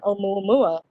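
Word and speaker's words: ʻOumuamua: learn the latest on Oumuamua in depth. After you got spoilers. Hey, it was in the news. Nice job on the Hawaiian pronunciation, Diane.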